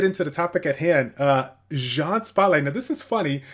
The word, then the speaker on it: Jeanne: or G an or yeah I mean just Jean French pronunciation easy way to go with it yeah yeah it's it's